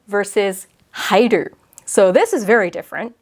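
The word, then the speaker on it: 入る: Versus hairu, it's just ru at the end. It's not ha-i-ru. The hi part is in the kanji.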